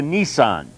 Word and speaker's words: Nisan: It was changed now to Nisan, not the automobile.